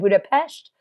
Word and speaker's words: Budapest: I got it oh and I said Budapest that's how they say it here the Danube River and